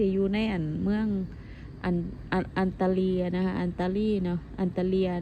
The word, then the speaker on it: Antalya: ใน อั่น เมือง อัน อันตาลี นะ คะ อันตาลี เนาะ อันตาเลีย นะ คะ เนาะ ประเทศ นี้ เขา จะ ออก เสียง อันตาเลีย นะ เพราะ ว่า หนู